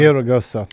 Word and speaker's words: Villaraigosa: While San Jose Mayor Matt Mahan and ex-Los Angeles Mayor Antonio Villa, how do you pronounce that one? Villaraigosa.